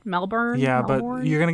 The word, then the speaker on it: Melbourne: I say that right Melbourne yeah but you're going to get made fun of by the Australians cuz they don't pronounce the R so they just said melbin melbour melbin Mel melbs